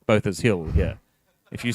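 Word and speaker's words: Botha's Hill: that is and why he didn't call it BHA, it's because you're in Nutell. It is pronounced Both's Hill here.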